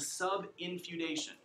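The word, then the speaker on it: subinfeudation: u d a tion sub in feud like family feud haitian i was a thing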